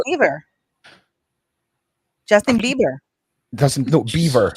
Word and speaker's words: Bieber: And I mean, the girls, Justin Bieber. Now I'm saying it correctly? Yes. Yeah, it's with a V. It's Beaver. It's Bieber, that's for sure.